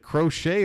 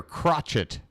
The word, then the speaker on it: Crochet: and bradish against crochet is it crochet or crotchett I'm gonna go with crochet go with that Co